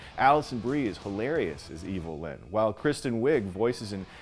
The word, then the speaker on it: Evil-Lyn: Ram Man and Fisto and Mekaneck, Evil-Lyn, whose name is just a phonetic way to mispronounce Evelyn.